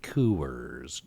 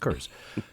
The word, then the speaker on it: Coors: It allows me to say it's pronounced Kerr's. It's not quite a U, it's just Kerr's. It's not Coors. You don't hit both O's.